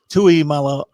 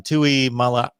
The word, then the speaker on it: Tuimoloau: I guess lastly would be the concerns about JT Tuimoloau. I haven't said his name in a long time. Tuimoloau.